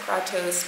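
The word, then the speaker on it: Kratos: a t o s I said I pronounce it katos because it's supposed to be it's like a Greek SL Olympian type name we got the name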